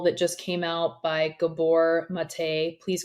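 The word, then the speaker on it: Gabor Maté: myth of normal that just came out by Gabor mate please correct me on the pronunciation yep you're correct okay and uh the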